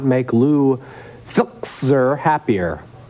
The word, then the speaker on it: Filczer: this country, and this could not make Lou Filczer happier. How do you pronounce that?